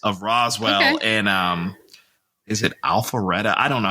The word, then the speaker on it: Alpharetta: affluent Atlanta suburbs of Roswell and is it Alpharetta? I don't know how to pronounce that.